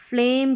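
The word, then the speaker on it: phlegm: इसको फ्लेम करके पढ़ा जाएगा। क्या पढ़ेंगे? फ्लेम। तो पी एच है ना? इसको फ पढ़ते हैं। क्या पढ़ते हैं? फ। ये एफ का मतलब फ ही हो गया। इसका उच्चारण देखना आपको जो भी लेटर्स हैं। तो इसको पैराडाइम पढ़ा और फ्लेम पढ़ा। इसमें जी का उच्चारण नहीं हो रहा।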